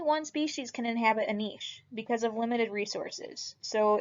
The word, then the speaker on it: niche: weird it's fed kind of weird but it's pronounced niche and it's all of the strategies and adaptations